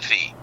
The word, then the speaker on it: phi: So when I arrive at the port of entry, somebody's trying to collect that transportation fee. Yeah. Transportation fee, F-E-E. Fee also is the pronunciation of PHI.